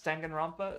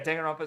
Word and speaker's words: Danganronpa: So da, and then with an n ending, because that's its own kana, basically the single n, and it's the only